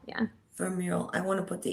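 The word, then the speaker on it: Vermeule: Is that how you pronounce it? Adrien Vermule, yeah. Vermule.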